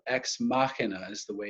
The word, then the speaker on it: Ex Machina: a film that's called ex machina as the way it's pronounced it looks like ex machinae but that's that's incorrect so it's a Latin phrase and it simply means